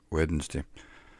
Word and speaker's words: Wednesday: it's pronounced weirdness day Wednesday you cut out some of the syllables and I don't think